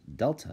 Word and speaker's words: Delta: well the triangles actually a Greek symbol it's pronounced Delta if you're curious and it actually represents the